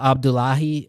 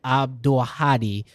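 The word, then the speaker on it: Abdulhadi: I've never seen in person like um Sama Abdullahi or I want to pronounce that again. Sama Abdulahadi uh is a DJ from Palestine and she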